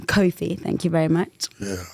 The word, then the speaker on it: Cofie: No, a lot of people, they say coffee, and I'm like forever correcting them. Cofie.